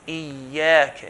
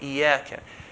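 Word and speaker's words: إِيَّاكَ: So make sure the shadda is pronounced Iyyaka and not Iyyaka. Iyyaka, kaf is from the light letters, okay? It's not from the heavy letters, okay, or the part-time, heavy part-time light. So it's not Iyyaka.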